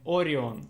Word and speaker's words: Orion: Ryan. What is his name? Ryan? Orion, Orion. Ah, Orion. Orion.